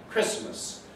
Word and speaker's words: Christmas: Christmas has lost its T. That's become elided. Now it's established, nobody says Christmas.